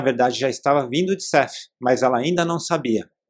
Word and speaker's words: Seth: parênteses aqui talvez você esteja se perguntando porque eu tô dizendo CF e não tô dizendo sete né porque na verdade como ela era uma americana tudo isso aconteceu lá e então eu tô pronunciando da forma que seria em inglês né o nome correto Então seria CF da mesma forma que eu não estou dizendo jan eu estou dizendo Jane Mas